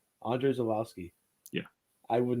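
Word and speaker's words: Andrzej Żuławski: that can can can you say his name andre zulowski andre zolowski yeah i would not have guessed that's what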